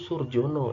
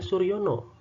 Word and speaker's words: Surjono: Ejaan lama itu misalnya seperti ini, Surjono. Tentunya kalau zaman sekarang dibacanya kan Surjono ya. Zaman dulu ini dibacanya Suryono. Ya, Suryono. J di sini dibacanya adalah Y, jadi Suryono.